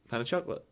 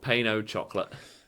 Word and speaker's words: pain au chocolat: How do you say pain au chocolat? Pan of chocolate. Oh, Pain-o chocolate. okay. I've been doing that wrong for about 27 years.